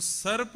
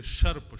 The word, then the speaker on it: सर्प: तो वो सर्प का सा उच्चारण गलत कर रहे थे, शर्प शर्प शर्प।